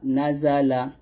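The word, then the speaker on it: نَزَلَ: এটা হবে নুন জবর না, জা জবর জা, লাম জবর লা, নাজালা।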